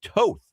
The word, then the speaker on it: Toth: It's a long O. Nick Toth is how it's pronounced.